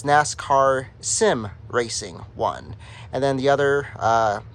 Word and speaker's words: nascarsimracing1: who designed it the credit goes to first NASCAR Sim racing one that's how he pronounces his YouTube channel it's uh commonly mispronounced as NASCARs I'm racing but it's NASCAR Sim racing one and then the other uh person who designed